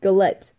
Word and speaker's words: galette: that right earlier cyanide galette noise galette GA L et de two T's in there says I really go let go let go let e noise